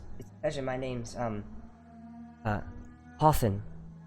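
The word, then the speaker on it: Hathowyn: spell that uh h-a-t-h-o-w-y-n i actually don't know how it's pronounced but i just said hoffen i think it's probably easy oh w-y-n out yeah of course they did thanks book unfortunate wow maybe like win yeah yeah hoth win yeah we'll say hoffwin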